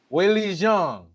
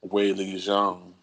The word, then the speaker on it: Weili Zhang: We're talking about MMA, so Weili Zhang. I've never had an opportunity to say your name again. I just said it twice. Weili Zhang.